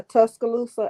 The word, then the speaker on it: Tuscaloosa: What Tuscaloosa? Is that how you say it? Tuscaloosa? Yeah, Tuscaloosa, Alabama.